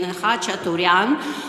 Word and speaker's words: Khachaturian: I sometimes mispronounce it, but I will pronounce it in the Ukrainian, Khachaturian, who is an Armenian,